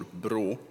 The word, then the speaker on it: Brå: It's now the 12th time that we at the National Council for Crime Prevention, or BRÅ, as our abbreviation is pronounced, invite to and arrange